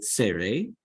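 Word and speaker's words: צירה: Next, you have the tsere, okay, which is 2 dots side by side. And it gives you the A sound, okay, as in hey.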